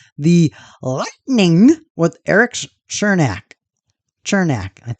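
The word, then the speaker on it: Černák: lightning with Eric's chernak chernak I'm pretty sure it's pronounced chernak resize the lightning eight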